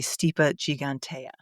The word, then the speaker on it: Stipa gigantea: Stipa gigantica is actually stipa gigantea and it's actually stipa just so we